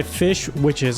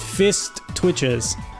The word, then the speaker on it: Fish Witches: This is by Fish Witches on Twitter /VGen. I almost mispronounced their name. I just wanted to get it right. Because I almost said Fist Twitches. I can't really enunciate right now.